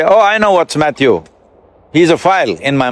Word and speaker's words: Matthew: in this, Right now, do I know you are Matthew, I wouldn't dare try the second name. McConaughey. McConaughey. Rhymes with what would Madonna say?